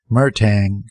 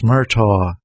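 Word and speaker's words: Murtagh: said and his voice broke on the second syllable owen murtaugh murtang no registration the wayne checker shrugged next it's murtaugh m-u-r-t-a-g-h owen murtaugh of 738 morrissey protest the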